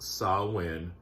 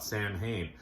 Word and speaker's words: Samhain: I know it's pronounced SAMHAIN.